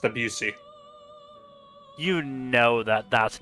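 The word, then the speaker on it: Debussy: composition I'm sorry Claude debsy I believe it's pronounced abusi you know that that's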